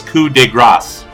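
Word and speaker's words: coup de grâce: I will remind you it's coup de Grasse yeah we're gonna use the the mispronunciation that has become standard in English because of [ __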